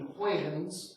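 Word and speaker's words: Huygens: the way the h-u-y-g-e-n-s it's a Dutch name it's it looks a little funny that way it's actually probably pronounced more like Christian acquaintance and that the Dutch had this kind of voice literal G's I've never known any other language that doesn't quite that way it's tough to pronounce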